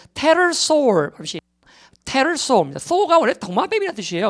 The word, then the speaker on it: pterosaur: 익룡은 이제 여러분 우리가 이 P 발음이 원래는 안 돼요. 묵음이 돼야 됩니다. 그래서 pterosaur pterosaur입니다.